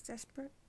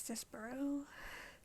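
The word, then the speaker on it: Despereaux: All I knew was the first word was Desperex. That's how I pronounced it. Till I learned it was Despero.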